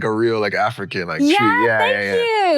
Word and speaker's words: Twii: People say Twii, and I like it Twii because it kind of westernizes it a little bit. You like the westernization? I don't mind it. Yeah. Instead of how it's actually pronounced but.